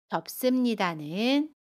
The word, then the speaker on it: 덥습니다: 덥습니다는 덥습니다 라고 발음해요. 받침 비읍은 그대로 발음하고요. 습은 씀으로 발음합니다.